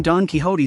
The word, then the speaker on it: Don Quixote: life not realizing that the name Don Quixote sounds out donkey in its first two syllables until today that person